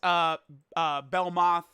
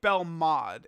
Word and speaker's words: Belmod: Like, if we look at Belmoth or Belmod, I believe Belmod is how you say it.